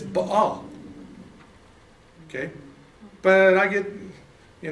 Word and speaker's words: Baal: And like for me, it's not Baal, it's Baal. Like, you know, the Babylonian god. And even Kitty goes, dude, why do you pronounce it like that? I said, because that's the way I learned it, because I was told that's the right way. It's B-A, B-A, and in the Hebrew it's Baal.